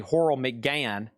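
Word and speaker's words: Horrell McGann: Horal McGain is spelled H O R R E L L M C G A N. And it's actually Horl Mcan.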